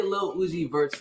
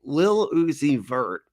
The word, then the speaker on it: Lil Uzi Vert: and everywhere and now if you say Lil Uzi vert's name Lil Uzi vert it's it's spelled l-i-l you oh my god really p-r-t